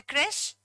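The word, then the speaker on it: crèche: Anybody knows about the creche? Don't pronounce that creshy, it's creche.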